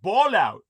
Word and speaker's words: Ballout: The terrorist Abdul Ballout. If I my last name, my family name were ball out. And it's spelled just the way it sounds.